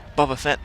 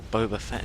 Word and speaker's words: Boba Fett: into the nebula on with these tie interceptors bava Fett is now on or boba fett depending on how you want to pronounce it n goes and proton torpedoes but